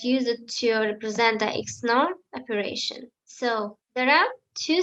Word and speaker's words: XNOR: e x nor or n x or and pronounce it as exclusive nor is a digital logic gate whose function is